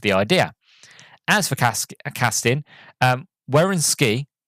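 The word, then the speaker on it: Wynorski: As for casting, Wierenski, right, here you go, that's how you pronounce it, Wierenski, says Kelly Moray was cast because I had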